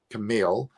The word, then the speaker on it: Kamil: He pronounces his name Camille, but I call him Kamil. That's just me.